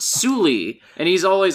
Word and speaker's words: Sule: Because his Galadon voice is also like, Suli, what are you up to? Suli? The Sule. I was reading that Sul because that's how it's spelled. Yeah, it's Suli, and he's always like, Suli, what are you up to?